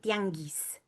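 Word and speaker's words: tianguis: So some some Salvadorians they'll say or they'll say I know that in Mexico they say tiangis exactly how you see the spelling here.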